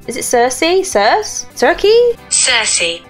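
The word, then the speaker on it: Circe: Is it Cersei? Cersei? Cersei. It's Cersei, okay. What experiments are the highly secretive and less than neighborly Loki and Cersei Beaker performing on poor nervous subject? Will this secrecy affect Cersei's career ambitions?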